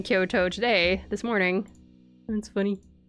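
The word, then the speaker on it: 京都: Both of them are long to um but if it's Kyoto, then the first part is long and the second part is short. Kyoto.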